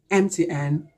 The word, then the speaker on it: MTN: sound this is why we should say an mtn sim card so this is it as far